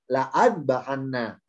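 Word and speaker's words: لأذبحنه: Oleh Allah tambahi alif akhirnya, ada alifnya di sini, la'at bahanna. Jadi adanya alif, nggak ada alif, nggak pengaruh. Tetap hamzanya loncat, bacanya ke huruf dal.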